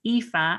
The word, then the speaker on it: Aoife: of an unusual one it's an irish name so it's ifa and it's spelled a-o-i-f-e and my surname is